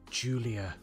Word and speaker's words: Giulia: It's pronounced Julia. Is it? Another blooper for Giles Cosgrove. Clip that, somebody, clip that. The worst bit about that, do you know what the worst bit about that is? I was about to say, it starts with a G though. So does my name, but it's still pronounced like J, for goodness sake.